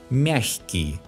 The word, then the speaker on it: мягкий: When the sound к is soft, the letter г specifies a soft sound х. Мягкий, легкий. Although some Russians pronounce a hard sound х here, мягкий, легкий.